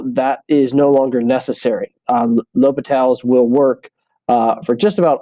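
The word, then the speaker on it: L'Hôpital: called Low Patel's rule so not Hospital not the hospital um we pronounce that l'hopital so this is a rule named after a mathematician lobital who discovered a special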